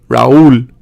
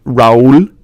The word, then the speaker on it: Raúl: So if an accent mark is introduced, it needs to be two syllables, such as dia, grúa, río, actúa, María, reúne, leí, Raúl, continúe.